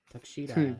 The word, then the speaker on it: Takeshita: That's how you pronounce Takshita. Takeshita.